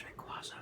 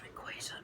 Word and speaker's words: Rayquaza: A lot of people think it's Rayquaza, but it's pronounced Rayquaza because it's supposed to be based off the word Quasar.